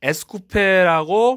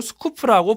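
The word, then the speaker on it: Scoupe: 유럽에서는 에스쿠페라고 많이 발음을 했고요. 대한민국에서는 그대로 스쿠프라고 부르기도 했습니다. 미국이나 영국권에서는 이 차를 에스쿠페라고 불렀던 점은 좀 특이한 부분이라고 할 수 있죠.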